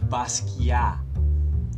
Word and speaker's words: Basquiat: an exhibit on Jean-Michel Basquiat. I just learned you're supposed to say Basquiat. The T is silent. It's a French word.